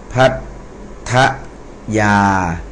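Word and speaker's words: พัทยา: ไป นะ ครับ อ่า ภั ทะ ยา พั ทะยา ต้อง อ่าน เป็น ดับเบิล นะ ครับ อ่า ต่อ ไป เอ่อ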